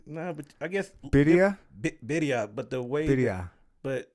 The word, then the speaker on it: birria: Birria, but the way. Birria. But I guess the way Hispanics say it, Spanish, the way they say certain letters.